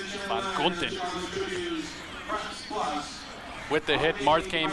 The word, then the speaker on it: Van Gunten: Van Gunten. Van Gunten.